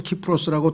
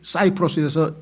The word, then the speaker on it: 키프로스: 이 사이프러스, 키프로스라고 똑같은 섬인데 그렇게 발음되는 이유는 그리스에서는 이 C자, 영어의 ABC 할 때 C자를 K로 발음해서 키프로스라고 하고요. 영어로 바뀌면은 이게 사이프러스에서 영어는 C를 사이프러스에서 붙입니다.